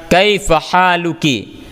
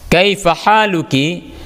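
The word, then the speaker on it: كيف حالكِ: Aminah Oke kita perhatikan Kaifa haluki kafnya berbaris gasroh Kaifa haluki karena lawan bicaranya Aminah Aminah itu nama perempuan Jadi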